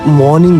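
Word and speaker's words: morning: এই সকালের ইংরেজি হচ্ছে মর্নিং। হ্যাঁ আমি এটাকে পার্সোনালি মর্নিং বলি এম ও আর এন আই এন জি। এখানে আমি আরটাকে উচ্চারণ করি না।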